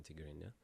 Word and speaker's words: Tigrinya: Tigrinya.